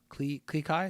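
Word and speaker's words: Klee Kai: Klikai? Is that how you say it? That's right.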